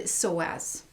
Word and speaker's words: psoas: But also I wanted to address the hip flexor here, and most particularly there's really one important hip flexor called the psoas, and that's spelled P-S-O-A-S.